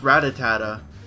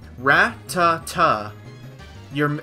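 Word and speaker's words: Rattata: It is not Ratatata. You need one more ta in it. T-A. So, it is Ratata.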